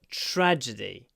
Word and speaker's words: tragedy: was a tragedy TR make sure you get the TR tragedy tragedy tra tragedy TR you can hold the r tragedy a tragedy it was tragic she died in tragic circumstances tragedy tragic tragedy tragic when you say tragedy as well make sure It's Not traged Tragedy D these e at the end they're quite long tragedy don't rush them tragedy okay that's another